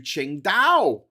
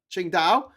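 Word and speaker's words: Qingdao: I headed down to Ching Dao. Ching Dao which is famous for its beer which isn't spelled like that.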